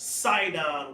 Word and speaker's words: Sidon: see what zidon is zidon later on was became pronounced sidon with an S same thing zon sidon